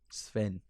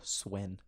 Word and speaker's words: Sweyn: Sven. Or Swen. Sween? It's spelled Sweyn, but I'll just say Sven.